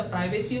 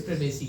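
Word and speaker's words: privacy: अच्छा, प्राइवेसी होती है, क्या होती है, इट्स प्रिवेसी, क्या पढ़ते हैं, प्रिवेसी, अभी पता है ना, मोबाइल नहीं मोबाइल, इसके बाद प्राइवेसी की प्रिवेसी, सिंपल सा लॉजिक है ना।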